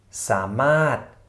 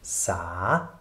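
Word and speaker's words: สามารถ: Wir würden wahrscheinlich hier dieses Wort, diesen Begriff als dreisilbigen Begriff lesen, nämlich sa-ma-rot, sa-ma-rot, wird aber r eben hier nicht ausgesprochen. Deshalb samat, samat, also genauso lesen, als ob dieses r in grau nicht dastehen würde.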